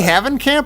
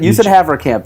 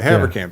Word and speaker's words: Haverkamp: By the way, this Wait, reminds did I me of say Havencamp or Havercamp? What did I say just now? You said Havercamp. You said it right. Okay, Havercamp.